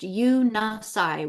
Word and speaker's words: Unisai: Guardian angelic nations often refer to this central source of creation as the Unisai, pronounced Unasai, which means central point of all union, and eternal consciousness of one all.